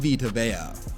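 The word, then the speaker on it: Vita Vea: Guys like Saquon Barkley, Denzel Ward, Rocoan Smith, Minka Fitzpatrick, Derwin James, Frank Ragnau, Quinton Nelson, and Vtoa. Just had to say his name correctly because I mispronounced it a few videos back.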